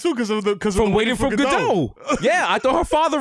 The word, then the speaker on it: Gadot: I was telling my girl, as I was telling about homegirl Gal Gadot, Showtime was like, it's not Gadot. It's Gadot. I thought it was Gadot too because from Waiting for Gadot.